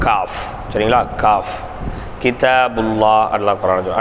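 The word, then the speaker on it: قاف: மேலோட்டமா போகும் இன்ஷா அல்லாஹ் காஃப் காஃப் நாவின் நடுப்பாகம் மேல்முரசில் லேசாக படுமாறு உச்சரிப்பது நாவினுடைய நடுப்பாகம் மேல்முரசுல லேசாக படுமாறு உச்சரிப்பு காஃப் சரிங்களா காஃப் கிதாப் அல்லாஹ்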